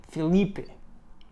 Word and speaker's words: Felipe: I'm sorry. I'm Spanish. I see Felipe. I want to pronounce it like they do in Spain, but you bastards believe I can almost sort of get it right. Okay, Filipe.